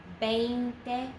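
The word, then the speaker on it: veinte: 20 is just V-E-I-N-T-E, 20, pronounce it like a B.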